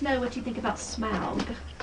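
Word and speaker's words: Smaug: what you think about smug although my son says it's smog not SM but I like the first pronunciation no I think it's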